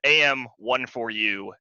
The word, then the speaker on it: AM14U4: is pronounced am14u4 um so it's the am one for you as in like everyone one for you everyone gets one that's